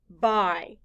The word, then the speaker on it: buy: loud be y bye the letter y stands for the long i sound blend with me i buy now skye write the